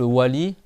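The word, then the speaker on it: و: C'est bon, c'est pas le son ou par exemple wali et en au Maroc il vont écrire wali. Mais soit-disant oui. Ouais mais c'est pas oua, c'est wa avec les deux.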